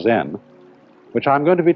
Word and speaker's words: Zen: this experience is dominant Zen of course is a Japanese word and uh it's spelled Zen and that is the Japanese way of pronouncing the Chinese word chan and this in turn